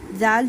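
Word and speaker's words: ذال: अपनी जुबान की नोक को फ्रंट के दांतों से लगाइए और फिर प्रोनाउंस कीजिए। ज़ल लेटर ज़ल। जाल जो है नरमी वाले हरूफों में आता है।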